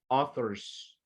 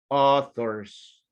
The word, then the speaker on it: authors: Esta AU la vamos a pronunciar como O, como que dijésemos O. So, no es authors. It's going to be authors. Authors.